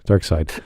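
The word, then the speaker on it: Darkseid: here i am god dark seed from superman the animate series more dark side side or seed is it side outside it's pronounced side yeah it's a really weird spelling all right dark side dark seed is seed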